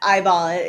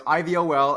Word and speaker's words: iVol: another one as well not eyeball yeah I I have it's I like inflation volatility or interest rate volatility iBall exactly think ivol our listeners should be you say it right I of all yeah no no it's ivol and my our listeners